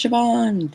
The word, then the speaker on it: Siobhan: That's how you pronounce Siobhan. Thank you, chat, for teaching me that. It makes no sense in Dutch, let me tell you.